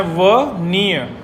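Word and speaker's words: veneer: Next देखिएगा बुजुर्गों, next word pronunciation, वनियर। इसकी प्रोनाउंसिएशन है वनियर। वनियर कैसे याद करेंगे?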